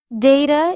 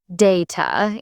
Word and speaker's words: data: Data is usually data in British English, not data. That pronunciation feels brighter and more precise.